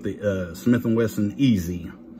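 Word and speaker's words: EZ: uh Smith and Wesson easy easy is the way they pronounce it but you know so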